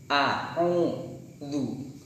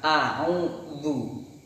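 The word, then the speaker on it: أعوذ: Makanya agar mudah untuk membedakan dan agar pengucapannya itu benar, maka dibantu dengan ketika mengucapkan huruf dzal itu maka mulutnya harus ditarik gini, kayak tersenyum. Nah, jadi a'udzu gitu ya, bukan a'udzu.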